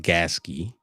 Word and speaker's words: Gasket: They have taken people and recently YouTube channel um Gasket it's it's spelled like gasket but it's pronounced Gaski right YouTube channel Gaski Mike he's from uh